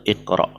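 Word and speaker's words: اقرأ: Nah, terus mengapa kita membacanya dengan kasroh? Iqra. Ya karena memang kemudian itu ya kita membacanya karena sesuai dengan kaidah ya. Itu dia fi'il amr ya iqra yang diambil dari fi'il mudhari' yaqra'u. Ya yaqra'u berarti huruf sebelum terakhirnya itu berharokat fathah.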